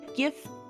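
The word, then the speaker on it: giff: one of the new spell jammer races a gift those who are uncivilized it is pronounced gif um did you really just say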